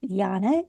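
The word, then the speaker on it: Jnana: love over anger the next classical form is Jana yoga that's spelled j n a n a and it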